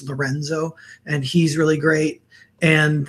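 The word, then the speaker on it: LRNZ: artist named el r and z which is pronounced lorenzo and he's really great and then the one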